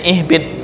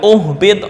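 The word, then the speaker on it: اِهْبِطْ: ihbit nah misal ibtida di sini bacanya ihbit mengikuti huruf yang ketiga harakat yang ketiga dibaca apa kasrah ini dibaca kasrah mengulangnya Ih bukan uhbit enggak itu cara membaca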